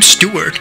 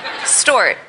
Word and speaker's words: Stewart: Khloe Kardashian doesn't really know how to pronounce the name Stewart. After a while, Jennifer Lopez wanted to correct her. Stort.